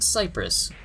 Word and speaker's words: Cyprus: liked them oh and i mispronounced tsipras it's pronounced cyprus later in the game you rescue miller it's